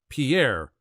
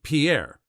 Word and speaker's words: Pierre: capital of South Dakota Pierre wrong she kept saying Pierre two syllables like the French name and he said it was Pier one syllable like what you fish off of he